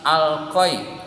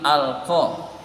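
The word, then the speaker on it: ألقى: Jadi alqa itu bukan alqoi tetapi alqa.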